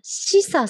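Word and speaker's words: 紫彩: 漢字が紫っていう漢字に色彩の彩って書いてしさって読みますので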